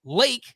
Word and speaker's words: Lake: It was Luke. Nope, not Luke. Lake. His first name is Lake.